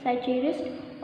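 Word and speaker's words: psychiatrist: Okay, next है साइचेरिस्ट. Next है P silent होता है, इसलिए क्या बोलेंगे, साइचेरिस्ट.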